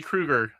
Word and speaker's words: Krueger: I'm having to uh it's pronounced just like Freddy Krueger okay Krueger that's